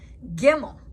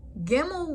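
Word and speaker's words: גימל: It's called without a dot, pronounced like a V, as in victory. Gimel. Gimel without a dot is sound as a G and giraffe.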